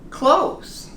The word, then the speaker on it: clothes: No TH, but I am sure everyone will understand when you say, I like to buy clothes. You have a lot of clothes if you pronounce it like this.